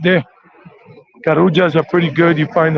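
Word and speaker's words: Carulla: is a small supermarket called karuja double l we pronounce it in spanish and this is a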